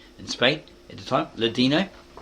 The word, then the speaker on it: Ladino: Ladino, not Latino, it's got here Ladino, Arabic, Portuguese, and modern Greek.